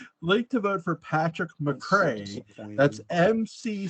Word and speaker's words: McCray: wrote up the ballot it's Patrick McCrae not Patrick McKay shame on you no